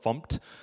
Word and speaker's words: fmt: the you know go from dinner us to format the code and there's some semicolons in there